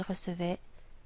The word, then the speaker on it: recevait: So it becomes je recevais, tu recevais, il recevait, nous recevions, vous receviez, il recevait. This word, and this word are all pronounced the same. Recevait.